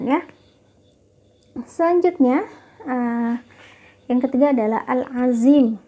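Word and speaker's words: al-ʻAẓīm: Selanjutnya, yang ketiga adalah al-azim. Al-azim ini bacanya al-azim, ya, teman-teman, bukan pakai zat, bukan pakai zai, tapi pakai dha. Al-azim.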